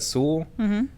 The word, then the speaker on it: Sewell: people that work at sewell fantastic now sew is s-e-w-e-l-l so see well but it's pronounced sewell okay very cool people nice